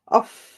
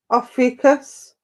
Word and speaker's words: Ophiuchus: I can't even pronounce his name. Ophiuchus. Ophiuchus.